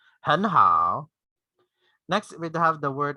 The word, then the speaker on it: 很好: So instead of really like executing the both in third tone, to make it lighter, make it easier for you to pronounce it. So you just say 很好, 很好. The first word, the first syllable is in the second tone or the rising tone.